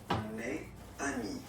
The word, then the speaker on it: mes amis: Okay, it's the plural form, so it's mes amis. Okay, and then let's be purist and make this beautiful liaison between these two words.